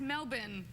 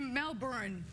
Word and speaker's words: Melbourne: Oh, that's You almost say it right. It's Melbourne. Oh, what did I say? You Melbourne.